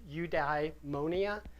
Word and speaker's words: eudaimonia: One idea I want to The notion of And this has been pronounced, if you look online, three different ways, but I'm going to call it eudaimonia, and it's happiness that's a state of happiness based on virtuous living.